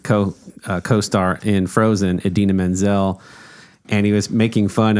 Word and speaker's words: Idina Menzel: he said my friend idina menzel which is pronounced exactly as it's spelled was funny Maya Rudolph